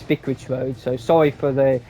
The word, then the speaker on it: Vicarage Road: I did say Vicage Vintage Road, but it is Vicorage Road.